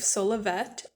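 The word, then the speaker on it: Solovet: Just a side note, I pronounce all of the names in this book like how the audiobooks pronounce them, so I say Solavet with a T sound at the end, but I know some people pronounce it Solave, like it's French or something. But my reasoning is that if we are pronouncing Dulcet with the et on the end, we should also be pronouncing et on the end of Solavet.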